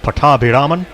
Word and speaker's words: Pattabhiraman: By the way, I'm indebted to a couple of actual Tamil-speaking journalists for putting me right on the pronunciation. Pattabhiraman, with the emphasis on those syllables.